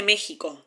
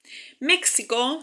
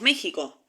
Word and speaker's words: México: México se dice en Estados Unidos, por ejemplo, pero acá decimos México. Eh, entonces ahí a la X se le asigna un valor fonémico distinto. Sí, suena como J.